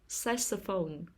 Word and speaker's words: saxophone: the first syllable shallow sass phone saxophone the stress is on the first syllable saxophone comedian comedian the stress